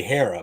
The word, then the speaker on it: Hera: should you should remember and just say say Hera but he keeps saying the green one and